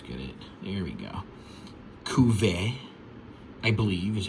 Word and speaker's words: Cuvert: Cuvert, I believe is how it's said. I think the T is silent.